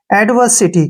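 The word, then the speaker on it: adversity: क्या हो गया एडवेयर एस आई का उच्चारण हो गया सी और टी से हो गया ट और वाई का उच्चारण हो गया ई एडवर्सिटी क्या पढ़ेंगे इसको एडवर्सिटी एडवर्सिटी होता है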